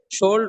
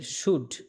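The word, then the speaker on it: should: Ah, Monir শোল্ড work. Monir শুড, শোল্ড না, এল এর উচ্চারণ হবে না, হ্যাঁ?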